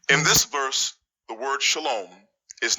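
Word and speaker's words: שָׁלוֹם: This word is pronounced shalom. If you say shalom or even shalom, I'm going to have to ask you to leave.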